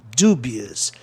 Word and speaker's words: dubious: Proparoxítona terminado em OUS. A sílaba tônica fica em DU. Dubious.